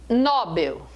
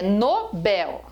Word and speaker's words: Nobel: é ínterim é ínterim a palavra não é nobel é nobel se a palavra fosse nobel ela teria que ter assento porque seria uma paróquia situada terminada em l ela não é nobel é um prémio prémio